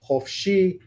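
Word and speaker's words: חפשי: All of these first kamatzes are actually kamatz-katan. They are in closed, unaccented syllables, and so they become an O sound.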